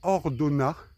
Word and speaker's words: Ordonnaz: km derrière moi et hordona il y a un Z à la fin mais il se prononce pas qui a 1 km